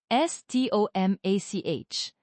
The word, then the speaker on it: stomach: And stomach s t o m a c h but we say stomach, right? So pronunciation is important to avoid funny misunderstandings.